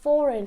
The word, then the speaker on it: foreign: design we also have foreign so in all of these you cannot really hear the G it's not cyan it's not designed it's not foreign right it's sign design and foreign so that was rule